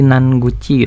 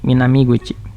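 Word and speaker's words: 南口: Nah, jangan kejebak rata-rata nanti karena onyominya nan jadi nan guchi gitu, atau nanko gitu, enggak, salah. Kita pakainya ungkapan yang gini, minami guchi.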